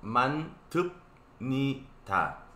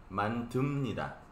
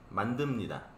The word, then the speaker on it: 만듭니다: La pronunciación es un poco diferente de a lo que está escrito. Está escrito mantup ni ta. Pero cuando lee, no se pronuncia así, sino así. Mantumnida. Mandumnida.